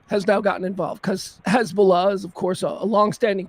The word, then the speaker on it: Hezbollah: Uh spent my entire life knowing how to pronounce Hezbollah. It's Hezbollah. Hezbollah. It's been Hezbollah since the 19 fucking7s. Hezbollah. Now all of a sudden we've got fancy reporters calling it Hezbollah. Like it's a different pronunciation now.